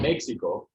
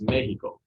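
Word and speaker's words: México: here's an easy example it's not mexico it is mexico because that's obviously a mexican word so menu um here's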